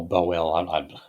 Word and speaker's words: Bowell: Oh, Bowell. Half the time, man, when I'm pronouncing these names, if I haven't heard them...